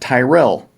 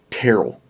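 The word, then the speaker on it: Tyrrell: wool so crustal close well no terrible not tyrell terrell terrell county is the smallest county by population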